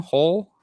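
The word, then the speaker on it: Hull: but i'm mostly whole is that how you say it's the same hole yeah yeah yeah so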